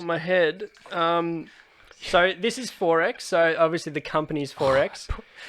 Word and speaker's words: XXXX: It's XXXX, pronounced 4X.